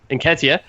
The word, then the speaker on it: Nketiah: I'm not even going to try to pronounce his last name because I can't. Nketiah, thank you.